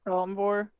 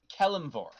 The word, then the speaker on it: Kelimvor: I think I said it right, Kelenvor. It is Kelimvor.